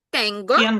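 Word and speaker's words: tengo: Тенго. Угу. Тенго. Тут остання голосна, тому на голосна передостанній склад.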